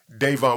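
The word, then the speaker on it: Dayvon: before king vine because how you pronounce his first name is devon yeah davon what was the nickname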